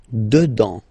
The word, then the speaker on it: dedans: Dedans. Final S not pronounced. Dedans. Dedans.